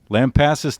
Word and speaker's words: Lampasas: Lampasas, Texas. Yes, your 8-year-old pronounced that correctly.